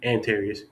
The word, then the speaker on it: Anterious: So Antarius, did I say it right? Yeah. Antarius.